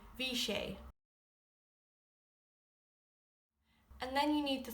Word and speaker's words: bhí sé: For yesterday for it was you would say vich.